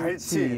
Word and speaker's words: 갈치: 아니 선장님이 자꾸 깔치라고 하시니까. 발음 약간. 발음 정정하겠습니다. 갈치. 갈치. 네. 예. 갈치라고 하겠습니다. 예.